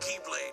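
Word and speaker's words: χ-blade: It's just pronounced like Keyblade, even though it's just one Keyblade.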